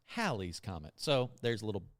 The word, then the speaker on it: Halley: And I got a book that year for my birthday about the comet, and it said it's pronounced Halley's Comet.